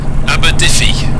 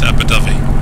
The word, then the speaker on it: Abu Dhabi: have Abu Dhabi or if I was going to pronounce it using my wonderful way of trying to pronounce things Fally that would be abodi but I know that it's pronounced abui at this point someone